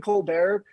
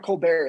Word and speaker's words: Colbert: yeah because it's like like stephen colbert it's not colbert it's colbert yeah cause they [